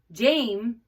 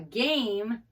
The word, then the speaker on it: game: Like if you get to this word and you say Jame, I don't know, I want to play a Jame. That doesn't really go, right? But then you try it with the hard G and you say, I want to play a game, that makes sense, okay?